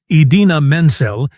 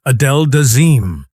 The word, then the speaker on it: Idina Menzel: Instead of saying Idina Menzel, he announced her as Adele Dazeem.